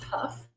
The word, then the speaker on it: Hough: all i'll tell you my last name is pronounced puff everybody always asks me